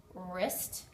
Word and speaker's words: wrist: unexpected sound there are several words that have a silent W the W is not pronounced wrist right here your wrist